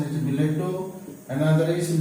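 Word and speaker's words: billet-doux: Pronunciation is biletto.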